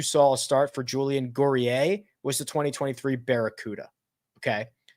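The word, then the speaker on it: Guerrier: would go um Julian gorier believe he's French which is why I'm pronouncing it that way is $5,600 this is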